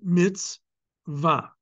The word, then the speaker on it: mitzvah: You see under the letter vav, the ah vowel, the komatz. Okay? So that's why we pronounce it mitzvah.